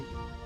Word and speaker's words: hantale: Hantale Al igual que los boromitas, los hantale (pronunciado han-tah-ley) son restos de la intensa experimentación genética llevada a cabo en la Primera y Segunda Edad de Antares.